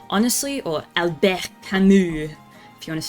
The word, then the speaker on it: Albert Camus: Make him read The Stranger by Albert Camus. Honestly, or Albert Camus, if you want to say it properly.